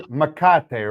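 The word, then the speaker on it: mecate: And as he mentioned before, it is Makate, right? That is the correct pronunciation.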